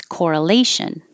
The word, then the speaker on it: correlation: a the word was correlation how what it looks like here and the stressed syllable is or here and it's four syllables with stress on the third syllable correlation correlation and i